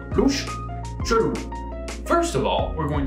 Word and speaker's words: chelou: We also have a variation in verlan, where we swap the syllables, and we pronounce it chelou. Louche, chelou.